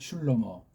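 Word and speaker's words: שלמה: 한글로 다 말한게 솔로몬이라는 솔로몬 이건 정말 준 족보도 없는 엉터리 소리예요 솔로몬이 뭐예 이건 서양 냄새랑 쪽발의 냄새가 물신 풍기는 엉터리 거짓 한글 쟁이들이 하는 우리는 슐로 뭐라고 읽으면 돼요 슐로모 배달 교리 소리 슐로모 예 슐로모 이게 성경에 맞아요 이걸 물로 또 신약에도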